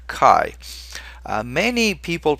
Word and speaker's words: chi: and it's the letter Kai uh many people pronounce this letter many people who don't know what they're doing pronounce this letter chai but remember chai is